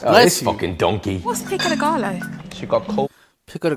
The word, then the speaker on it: pico de gallo: What's pico de gallo?